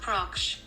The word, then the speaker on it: Proksch: How to pronounce. English, dude. Oh, I gotta turn up the sound. Mark Proksch.